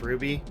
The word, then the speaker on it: RWBY: Well, I mean, they were behind RWBY, which is pronounced Ruby, and like that has a dedicated following.